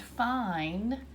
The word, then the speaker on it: fine: The word fine has that silent E at the end. Some people call it sneaky E or quiet E, but it's going to make that vowel in the middle, the I, make I, where I says its name.